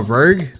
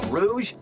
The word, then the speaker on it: Rouge: be a human oh Rogue okay of course Rouge the Rouge is that how you say it why have I said Rogue this whole time it's not even spelled Rogue I just realized well